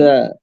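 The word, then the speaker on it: ز: জা, এটাকে আমরা বা অনেকে ঝা বলেন, জা, ঠিক আছে? জা অথবা জা। ঝা বললে এটাও সমস্যা নাই, কিন্তু জা এটাই বেশি আমার কাছে ভালো মনে হয়।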